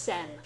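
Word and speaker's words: 千: the character for 1000 when it stands alone it's pronounced sen hence her name in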